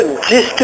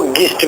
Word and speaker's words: gist: Presses का मतलब होता है समरी, इसको जिस्ट भी कहते हैं, GIST, जिस्ट। इसको इसी लफ्ज को गिस्ट भी कहते हैं, न्यू प्रोनाउंसिएशन जिस्ट है।